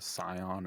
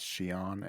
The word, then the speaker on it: Scion: I'm just going to point out real quick, just because I have to, that you pronounced Scion as Shion, and that was funny to me.